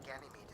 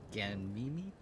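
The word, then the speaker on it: Ganymede: safe to assume that ganim is not an exception Gan Mimi is how you pronounce it it's pretty chill you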